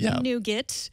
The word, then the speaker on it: Nougat: So, we were going to wait for Nougat, pronounced Nougat, uh, which is allegedly coming out maybe this week, maybe six.